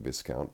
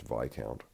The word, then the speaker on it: Viscount: the road in the town I was calling Viscount but was corrected it's pronounced VI count and I was when I get to these